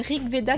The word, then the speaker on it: RG Veda: C'est RG Veda, donc a priori c'est Rig Veda qu'il faut le prononcer parce que ça vient d'un texte hindou.